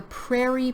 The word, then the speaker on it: prairie: Then we have the Prairie provinces. This word is kind of hard to pronounce here. Prairie. Those 2 R's together are kind of difficult.